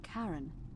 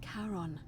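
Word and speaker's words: Charon: you described it only your pronunciation is a little off the name you heard wasn't Karen it was c h a r o n ah a karon the Fairman of the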